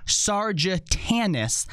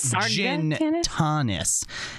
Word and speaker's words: Sargatanas: of which he's never said right which is pronounced sergeant anis not sergeant honest and then mispronounced the word divisive or divisive